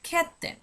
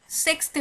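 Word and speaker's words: sjätte: বলছি তখন বলা হচ্ছে খেতে, খেতে, খেতে। এখানে কিন্তু সেক্সতে বলা হচ্ছে না, খেতে বলা হচ্ছে।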